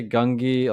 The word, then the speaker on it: Gungi: So they all say it differently. yeah, some say like Gunji, some say Gungi. Like it's, I guess you can just use any of those and it's accurate.